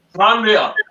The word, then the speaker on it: Stranraer: Stranraer.